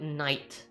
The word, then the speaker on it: Nite: because like back then my name is like n-i-t-e so it's like night and I.T night right but a lot